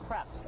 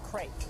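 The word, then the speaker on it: crêpes: to make yeah and they're French right that's why they're pronounced creps and not crepe because that's the paper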